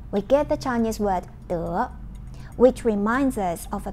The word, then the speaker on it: 德: The Chinese pronunciation of this word is 德.